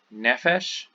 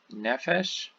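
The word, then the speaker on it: נֶפֶשׁ: So again, something that's significant about these is that the stress, instead of being on the final syllable, is here on the syllable before the end. So the penultimate syllable. So melech and nefesh, nefesh.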